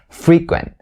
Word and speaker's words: frequent: conversations in day-to-day conversations native speakers will say this word as frequent frequent all right frequent and notice that i stress the first syllable not of the second one so the primary stress is going to be the first one free queen don't say frequent right frequent and the